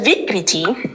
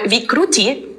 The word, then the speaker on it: vikriti: So everybody is born with a specific combination a very unique combination of doshas and then the vikriti or vikrrui again it depends on the books um is the imbalance.